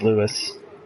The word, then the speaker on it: Louis: Well, he just commented that it's spelled Louis, but it's pronounced Lewis.